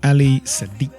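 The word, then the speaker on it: Ali Siddiq: Ali Sadiq.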